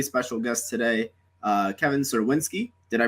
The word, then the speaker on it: Czerwinski: as always i'm joined by joe fursaro and we have a very special guest today uh kevin sirwinsky did i pronounce that right yes you could are beautiful